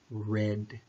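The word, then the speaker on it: read: Reid is also our II ad but we pronounce it red it's kind of one of those complicated parts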